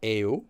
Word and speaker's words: 예요: Okay, call should be 예유, which is pronounced as 에유, but spelled as 예유.